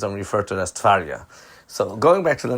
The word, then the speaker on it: Tverya: Now, the city of Tverya, by the way, before I continue, I do want to mention that the Rebbe would pronounce it always Tverya instead of Tverya.